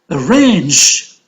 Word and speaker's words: arrange: Arrange is a two-syllable verb, so range is stressed. And you can say that it is on the second syllable.